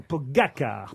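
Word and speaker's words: Pogačar: pour son premier tour, Pogacar, c'est son nom, Pogacar, pardon. Très bien prononcé. Pogacar. Vraiment très belle prononciation.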